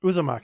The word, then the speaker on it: Uzumaki: a japanese comic and i believe that it's pronounced uh zumaki uzumaki oh okay uzumaki and that's another you know